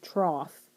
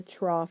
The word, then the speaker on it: trough: that is the wave trough spelled kind of strange but um that's how you pronounce that it's the trough think of like a feeding trough for animals or something like that and that's going to